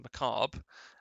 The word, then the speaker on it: macabre: there we don't say we don't pronounce the r so it's a macabre um tough word if